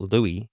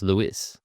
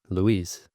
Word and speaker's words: Luis: I did learn something about um Vins Vins Lewis is that his his last name is actually Portuguese. So it is not Louis, it is Louis or Louis.